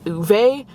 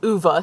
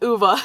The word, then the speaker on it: Ove: every part of me keeps wanting to say uve but on the audio book He's pronouncing it like UA so I'm going to go with UA I just decided to uh drive down here